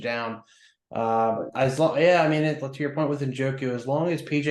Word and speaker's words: Njoku: Njoku, yes, that's correct.